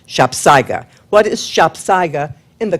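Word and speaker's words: sapsago: It's spelled S A P S A G O. Two words, but it is pronounced shopsa.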